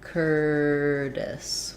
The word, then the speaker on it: Curtis: er they would have a flap t would sound a little bit more like a d so basically like curtis with an s sound first syllable stress curtis um that's because the t is in between two unstressed syllables um and the it has first syllable stress so tight r curtis um yeah okay great